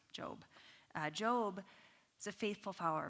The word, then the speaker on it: Job: His name is spelled Job. It is Job, pronounced Job.